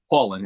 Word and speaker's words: Paulin: do you do it Paulin exactly the way it looks Paul Paul Paul Paulin so Brian pauland ladies